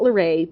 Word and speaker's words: LaRae: Her middle name is not LaRae, but it does rhyme with okay, so, you know.